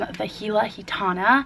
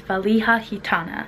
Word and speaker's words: ValijaGitana: I picked out from VajilaGitana. Future Margot here. I needed to correct myself. The correct pronunciation of the brand is VALIJAGITANA, just so you know.